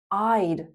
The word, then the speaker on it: I'd: I would. I'd. Like the verb lied.